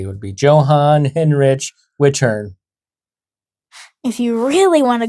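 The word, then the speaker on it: Johann Hinrich Wichern: That's a J, not a Y. That's a CH, not a K, but that still happens in regular English.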